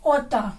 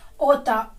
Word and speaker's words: outta: Next देख लीजिए, seventh, आउट ऑफ से बन जाता है ओटा। क्या बन जाता है? ओटा, OUTTA, ओटा। ठीक है, आउट टू का